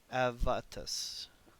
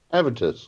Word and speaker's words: Avitus: Avatus. Avatus. Avitus, there we go.